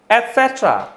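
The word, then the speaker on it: et cetera: Spelling के behalf पर अगर हम चलें तो हमारा प्रोनाउंसिएशन बैठेगा एटसेट्रा, लेकिन ये वाला जो टी है ये हो जाएगा साइलेंट।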